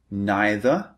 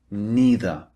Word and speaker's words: neither: hear native speakers using you can say neither or neither these are the two alternatives and you can say either or either slightly different these are the alternative pronunciations just to let you